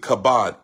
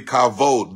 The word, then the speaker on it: kavod: call it the kavod some people say pronounce it kabbad k-a-b-o-d but it's actually kavod the kavod the heaviness